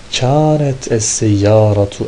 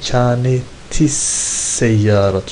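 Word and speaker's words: كانت السيارة: Kânet es-seyyâratu emâmel beyti. Kânet es-seyyâratu diye okuyorum ama aslında kânetis-seyyâratu. Şuradaki T S'e vererek okunur.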